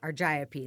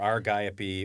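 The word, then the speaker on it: Argiope: agriop argapy argapy that's how you pronounce it okay or argapy or I'm not too fussy but a r g i o p e is how the spelling is and it's that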